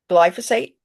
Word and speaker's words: glyphosate: Would you mind pronouncing that please? Glyphosate.